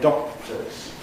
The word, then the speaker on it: doctors: You can't hear usually the explosion of the K in doctors.